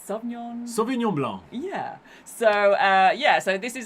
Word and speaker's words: Sauvignon Blanc: And it's famous particularly for, I'll give the pronunciation to Robin, It's Sauvignon. Sauvignon Blanc.